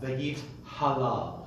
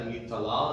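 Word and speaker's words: ויתהלל: It's a common mispronunciation among those who aren't very, very well aware of it. V'yit hadar, v'yit aleh, v'yit halal. Right, so it sometimes comes up v'yit tadar, v'yit taleh, v'yit talal, and you haven't made a distinction.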